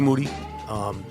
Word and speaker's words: Moody: His name is Moody. Obviously, yes. It rhymes with duty.